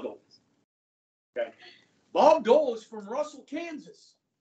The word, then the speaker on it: Bob Dole: he from ma OB you guys say it like one word it's two words but you say it like Bob do okay Bob Dole Is from Russell Kansas